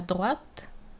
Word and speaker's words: droite: donc on se rappelle il y a une différence de prononciation en tourner à droite on prononce le T droite et continuer tout droit donc continu tout droit pas de T tourner à droite